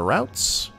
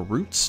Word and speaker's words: routes: We will go ahead and disintegrate the boots and the routes. Or roots, depending on how you pronounce it.